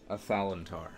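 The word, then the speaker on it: Athalantar: A Thalantar.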